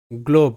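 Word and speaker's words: globe: তাহলে গ্লো, GLO গ্লো, বিতে গ্লোব, গ্লোব, আর শব্দের শেষে এখানেও ই সাইলেন্ট, গ্লোব।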